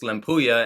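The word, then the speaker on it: Lempuyang: how to pronounce lampuya it looks like lempu Yang if you look at the spelling of it but I went on Google and tried to figure out how to pronounce it because I'm tired of coming on here doing videos and not knowing how to pronounce any of this stuff and in looking at that I found two pronunciations that were just limpuya and it has more of like an island feel which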